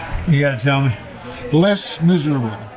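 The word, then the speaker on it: Les Misérables: Les Miserables. Les Miserables. Is that how you pronounce it?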